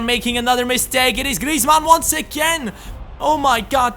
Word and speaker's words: Griezmann: me that in the comments his name is pronounced Griezmann and right here they are making another mistake it is Griezmann once again oh my God this guy had